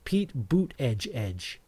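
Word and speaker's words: Pete Buttigieg: but butt butt edged his name is Pete pronounced Pete boot Edge Edge Pete boot Ed Edge but it's it's spelled butt Pete butt Edge Edge I'll go with that one Pete butt Edge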